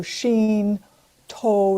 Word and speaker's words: Shinto: uh beings, the the deities uh can be pronounced either sheen or kami. It's the same same word. So sheen toe is a path or road.